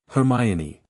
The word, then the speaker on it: Hermione: of Harry and said, in the slow, emphatic way a teacher corrects a first year's pronunciation, "Hermione." "Her." "Me-own." "Nay." "Dog." said Harry. "Hermione."